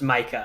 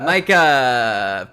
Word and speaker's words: Mika: I'm pretty sure that name is pronounced Micah. Micah.